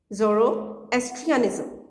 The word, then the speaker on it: Zoroastrianism: Sikhism Zorro is trian ism ok how to pronounce it Zoroastrianism etc people practice their religion freely in Asia